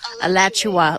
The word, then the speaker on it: Alachua: Alachua, like Joshua, but Alachua.